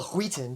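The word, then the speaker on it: Wheaton: I got back but will weaton you know well will Wheaten to pronounce it correctly gave the keyote he's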